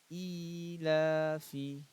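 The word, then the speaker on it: إِيلَافِ: حمزہ کھڑا زیر ای، لام کھڑا زبر لا، ایلا، فا زیر فی، ایلافی، ایلافی. ہم لوگ 5 بار پڑھیں گے سب کو، ٹھیک ہے. ایلافی، ایلافی، ایلافی، ایلافی، بیہی، با زیر بی،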